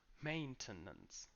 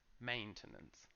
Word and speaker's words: maintenance: completely different pronunciation so the main stress is in the first syllable which is still main but then we go main to nuns maintenance and that's the noun maintenance maintain maintenance maintain maintenance